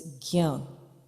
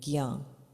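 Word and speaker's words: ज्ञान: put a G and a Y together and make it gya. But it's slightly nasal also, so it's gyan. Like you can feel your nostrils pressing down a little bit, gyan. So that's the pronunciation for agya or jnana.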